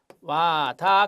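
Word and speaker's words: Wada: 자, 와다 검사라고 읽습니다.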